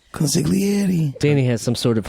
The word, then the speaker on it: consigliere: can say consigliere yeah but you don't have to say the G consigliere Danny has some sort